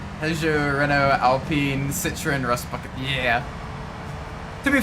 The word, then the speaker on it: Citroën: Citroën. Well, I think when I was a kid, I called it Citroën. Oh, the poor French hearing that.